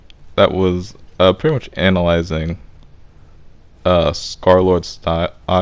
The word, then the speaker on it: Scarlxrd: was pretty much analyzing Scarlord style, like Scarlord, like Scar L. How does it spell? It's like Scar L XRD, but of course it's pronounced Scarlord.